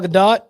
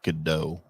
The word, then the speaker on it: Gadot: Gal Gadot, done. I believe it's pronounced Godot.